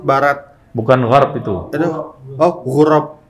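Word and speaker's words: غراب: bukan garb itu oh gurab gurab panjang cob bahasa Arab sensitif dengan panjang pendekab hah iya kalau kita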